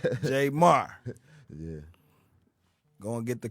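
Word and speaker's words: Jaymar: Not like Jay-Z, J Marr.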